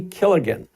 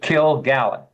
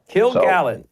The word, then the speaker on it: Kilgallen: And a lot of things you probably don't know about the JFK assassination, including Dorothy Killigan.